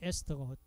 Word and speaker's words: 에스터: 자, 에스터를 영어로 에스터고 독일식 발음을 하면은 에스테르 이렇게 발음이 나는데, 이 독일식 발음보다는 지금 통용되는 건 영어식 발음이니까 에스테르 그러지 마시고 영어식 발음으로 한다면은 에스터, 에스터를 그러지 마시고 에스터 결합. 그래서 여기는 에스테르 이렇게 했잖아, 그죠? 독일식 발음이죠. 영어식 발음으로 한다면 에스터 결합입니다.